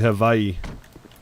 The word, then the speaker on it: Hawaii: You pronounce it Havaii. It's somehow all the Hawaiian people that I've met pronounce it, but okay. Yeah. No, the the natives actually pronounce it. Havai, not Hawaii.